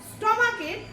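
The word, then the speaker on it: stomach: স্টমাকের plural form করতে গেলে কিন্তু আমরা ইস ড করবো না।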